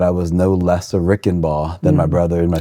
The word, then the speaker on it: Reichenbach: We pronounce it Reichenbach, as the name goes phonetically, but mom and dad and adopted me.